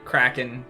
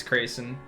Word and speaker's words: Kraken: Most people think it's pronounced like Kraken, but it's Kraken.